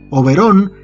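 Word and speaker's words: Oberón: una noche de verano' overol esta vez con acento en la última o es igualmente un personaje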